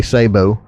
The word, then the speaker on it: sabot: this is what they call a Sabo or a sabot it is spelt I